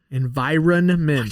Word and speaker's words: environment: number eight uh environment environment to pronounce the end hard because it's there and i just have